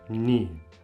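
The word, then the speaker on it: një: Some might pronounce it as similar to the task Albanian. I would say ni.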